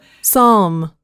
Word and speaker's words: Psalm: 이 책의 영어 명칭은 풋삼입니다. 따라해볼까요? Psalm. 좀 발음이 조금 어렵죠?